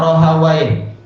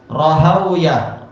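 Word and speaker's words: راهويه: Rata-rata masyaikh membaca adalah sibawa ee juga apa? Rohawai. Tapi sebagian masyaikh India mengatakan tak tak bacanya adalah yaitu apa? Sibauyah, rahawuyah. Entah yang betul yang mana. Karena ini memang bukan bukan bahasa Arab, dia adalah bahasa Persia.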